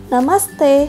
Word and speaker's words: namaste: Let’s try to pronounce it: Namaste!